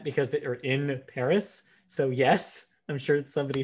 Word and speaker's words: Paris: official Netflix Twitter says is supposed to be pronounced Emily in Paris, so that way Paris rhymes with Emily.